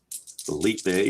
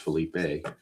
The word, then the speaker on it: Felipe: Philippe Alou. I think it's pronounced Felipe. Felipe Alou is on deck.